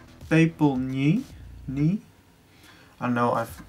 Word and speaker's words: Pepelniy: And the song is called Pepelniy. I know I'm pronouncing it right.